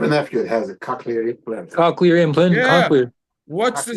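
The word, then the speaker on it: cochlear: in English called I don't know if I'm pronouncing this properly but a coke lure implant. C O C H L E A R implant. What's it called? I have a nephew that has a cocklear implant.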